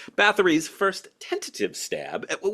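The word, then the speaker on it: Bathory: essential 88 albums include Ba's that's a th sound just so we're clear Ba's first tentative stab at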